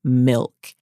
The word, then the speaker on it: MILCK: So for this week's Give Her a Crown, I want to give a crown to Milk. And Milk is spelled Milck.